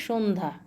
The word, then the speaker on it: সন্ধ্যা: দন্তন্যয় ধপলা সন্ধ্যা সন্ধ্যা যদিও লেখাটা সন্ধ্যা কিন্তু উচ্চারণ হবে সন্ধ্যা চয় ছফলা ইচ্ছা তয়